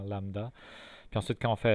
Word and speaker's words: lambda: Par exemple, lambda, ça s'écrit comme ça. Il y a un B muet dans lambda.